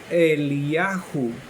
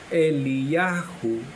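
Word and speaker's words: אליהו: La pronunciación en hebreo es Eliyahu. Eliyahu, que quiere decir nuestro creador.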